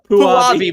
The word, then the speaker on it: Puabi: Puabi, but I like Punani better.